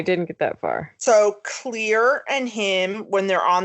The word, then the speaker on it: Clear: Thought it was Claire until so did I. Looked up the roster. Nobody's pronouncing that clearly enough. I thought it was Claire for the longest, and then I was like, oh, it's Clear.